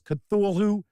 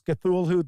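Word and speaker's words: Cthulhu: sum it up is I will pronounce cthulu the same way Neil Gaiman Peter strob and RAM Campbell all pronounce cthulu so St what is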